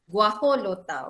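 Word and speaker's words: guajolota: did you the jeff the j there is pronounced as guajo lota okay so let's see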